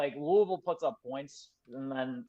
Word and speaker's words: Louisville: You have to say it like you have a mouthful of food. Is how to properly pronounce Louisville.